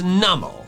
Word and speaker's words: Numel: The official pronunciation is Newmal. Newmal. It's numb and camel. It's a camel that doesn't notice when it's being hit. It's literally a numb camel.